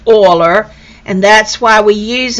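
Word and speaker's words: Euler: whose name starts with an e but it's pronounced aller and that's why we use an e is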